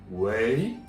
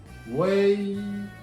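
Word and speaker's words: 喂: Yeah, this is in Chinese is way. Yeah, if you remember the 4 sounds, number 2 sounds, ma. This is the number 2 sound, ma, going up, and way. This word's number 2 sounds is like a way.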